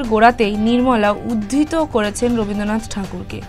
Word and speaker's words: ঠাকুর: Budget বক্তব্যের গোড়াতেই নির্মলা উদ্ধৃত করেছেন রবীন্দ্রনাথ ঠাকুরকে। টেগর নয়, ঠাকুর উচ্চারণ করে ছুঁতে চেয়েছেন বঙ্গের ভোটারদের।